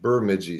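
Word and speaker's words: Bemidji: my uh first year of college up at bidi State University and and if you're local around here you know that it is pronounced burmi State University because it's way up in northern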